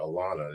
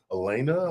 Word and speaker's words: Alana: Say my my my youngest daughter, Alana. And people Elena.